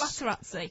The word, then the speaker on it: Materazzi: Materazzi. I've told you, it's just say what you see. Say what you see. Okay, Materazzi.